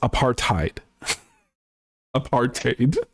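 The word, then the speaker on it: apartheid: at him and said it's pronounced apar tiid aparted and I was like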